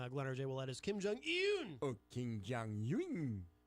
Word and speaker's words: Kim Jong-un: The correct pronunciation, Glenn R.J. Ouellette, is Kim Jong-un.